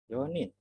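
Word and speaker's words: 四人: Lalu 4 Yonin.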